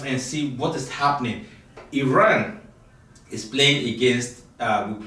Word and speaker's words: Iran: the Iranian people but you're pronouncing our country's name wrong our country is named Iran not Iran please once and for all let's get this